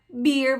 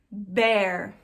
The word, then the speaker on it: bear: Muitas vezes, em muitas palavras, existem muitas exceções, mas em muitas monossílabas, quando tem um E e um A junto, que nem palavrinhas pequenas, monossílabas, o som vai ser E, tá?